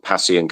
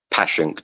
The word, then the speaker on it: Passyunk: It's called Passyunk Avenue or Passyunk, depending on how you pronounce it. Passyunk.